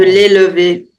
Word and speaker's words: l'élever: De l'élever. Oui. That's how it's pronounced.